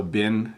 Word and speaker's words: been: been to Canada before so bin has two pronunciations most people say bin like Oh has he been there before or has he been